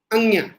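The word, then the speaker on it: ङ: Dash लगा के लिखो का, ख, ग, घ, अंग्या।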